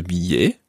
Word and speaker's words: billet: So the whole phrase would be, le distributeur de billets a avalé ma carte. Le distributeur de billets a avalé ma carte. Just watch billet. Billet. You don't actually pronounce an L sound in there.